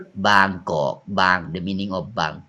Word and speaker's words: บางกอก: Bangkok you know Bangkok come from บางกอก บางกอก but foreigner cannot pronounce like that Pron Bangkok but name